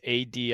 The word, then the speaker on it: adit: the purposes of access is called and it's Adit I don't know if it's ad addit so I like that interesting uh that is how it's pronounced yeah add it addit yep uh so Latin FR adius uh here